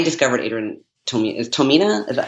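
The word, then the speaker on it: Tomine: a turn to me Tamina I never heard it pronounced when he was on NPR a few years ago as to my knee but okay I will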